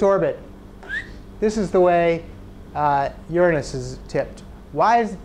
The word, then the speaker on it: Uranus: Okay, next planet, Uranus. Despite how you might want to pronounce it, that's how I'm going to pronounce it and how astronomers pronounce it.